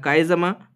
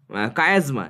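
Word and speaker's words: chiasma: Crossing over, সেটা মিওসিসে ঘটে এবং কাইজামা, তাই না? কাইজামা গঠিত হয়। কায়াজমা, অ্যাকচুয়ালি প্রোনাউন্সিয়েশনটা হচ্ছে কায়াজমা।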